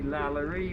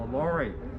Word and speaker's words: LaLaurie: as the lorry mansion spelling of his name is l-a-l-a-u r-i-e french pronunciation would be lallery but i'll be using the americanized sounding name of the lorry and dr louis o'laurie